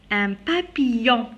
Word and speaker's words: papillon: Un papillon. Alors regardez, deux L, je la prononce comme Y.